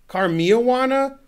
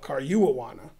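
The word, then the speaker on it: Caruana: Karmiawana? No, Karyuwawana.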